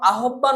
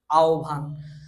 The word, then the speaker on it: আহ্বান: তো এইখানে কিন্তু আমরা কেউ আহ্বান উচ্চারণ করি না, আমরা কিন্তু সকলেই যারাই উচ্চারণ করি তারাই আমরা আহ্বান বলতে হয়। এটা সঠিক উচ্চারণটা হচ্ছে আহ্বান, এটা আহ্বান হবে না।